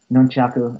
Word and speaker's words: nunchaku: fan of Nunu uh nunchaku if you want to you know pronounce it the right way I don't like when